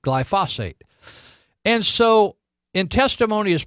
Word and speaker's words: glyphosate: I'm saying it wrong this glyphosate g ly pho SAT not phosphate glyphosate and so in testimony